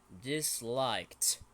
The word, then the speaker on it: disliked: And this one is disliked. Don't forget the t sound.